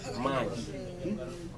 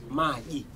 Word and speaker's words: maji: Magi. Magi.